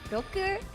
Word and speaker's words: roku: It's pronounced roku, so it's like rock, you know.